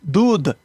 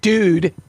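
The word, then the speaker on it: दूध: No, dood. You'd phonetically do it DOODH. Oh, dude. Dude. It's from the front of the mouth, not dude. Dude.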